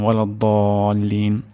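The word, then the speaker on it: ولا الضالين: দ এখানে 4 আলিফ পরিমাণ টান হবে ওয়ালাদ্দাল্লিন। আমরা দ উচ্চারণ খুবই সোজা হয়ে যাবে যদি আমরা জিহ্বার আগা আমরা সামনের দাঁতের গোড়ার সামনে লাগাই। এখান থেকে দদ উচ্চারণ করা খুব সহজ, তাহলে দদ মোটা হবে।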